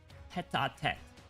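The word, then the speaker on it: tête-à-tête: Hold on, how do you pronounce this? Tete-a-tete.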